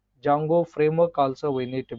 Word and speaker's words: Django: after that uh the jungle framework where D is silent that's why people are calling like a jungle jungle framework also we need